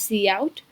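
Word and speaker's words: cout: executed line 5 is c out which is pronounced as c out is an object used together with the insertion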